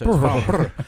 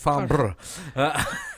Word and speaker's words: Farnborough: So it's Farnborough. That's the way you pronounce it. Farnborough.